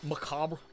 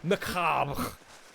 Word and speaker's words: macabre: When I was little, I said macabre wrong. Said it like how it's spelt. You said macabre or something, I'm assuming. I like when someone does the like really French thing where they go macabre and they don't like say the R-E.